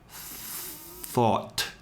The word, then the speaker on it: thought: The GH cluster, for now, you could just consider that it's silent.